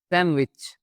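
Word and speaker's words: sandwich: बहुत सारे लोग इसको सैंडविच ही पढ़ते हैं। बट ये असल में पढ़ा जाता है। सैंडविच।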